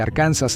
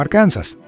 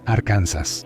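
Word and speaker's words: Arkansas: como sus guías y su acento único nos dio la pronunciación inusual de Arcansas en los años 1800. Un senador en realidad intentó que sonara más inglés como arcansas, pero para entonces todos ya decían arcansas.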